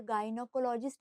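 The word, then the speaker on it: gynecologist: वही अगर word गायनोकोलॉजिस्ट आता है। गाइनो मतलब फिर से फीमेल की बात हो रही। पर प्रोनंसिएशन करते वक्त हमने ग की प्रोनंसिएशन की है।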